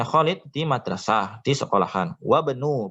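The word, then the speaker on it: وابن: Wabnu, bacanya wabnu bukan wa ibnu.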